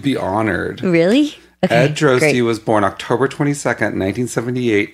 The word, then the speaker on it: Droste: No, I didn't even know your name was Droste. Rhymes with toasty.